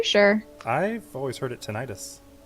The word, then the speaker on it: tinnitus: Marizio, it's pronounced tinnitus. Oh, are you sure? I've always heard it tinnitus.